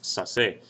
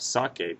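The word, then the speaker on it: saque: The problem with that is uh if I spell a word s a c that's going to be pronounced sass or sass and I don't want that. I want to have sake because sakar is the original sounding verb. So I want to keep that c sound.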